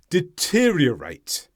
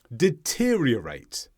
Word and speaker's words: deteriorate: Deteriorate. Deteriorate. Sometimes people have trouble going from one r sound to the next. There are two r sounds in the middle there.